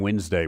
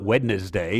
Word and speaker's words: Wednesday: a hard time spelling wednesday when you're a child yeah why in the world does it have a D in there and it's not wetness day is it it's Wednesday so why do we spell